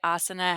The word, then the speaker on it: asana: I will say asana has the emphasis on the first syllable.